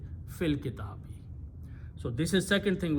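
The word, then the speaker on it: في الكتاب: Instead of saying fi al kitabi, okay, fil kitabi.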